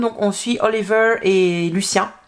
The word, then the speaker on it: Lucien: Et dans le premier tome, donc on suit Oliver et Lucien, à prononcer en français parce que sa maman est française d'origine.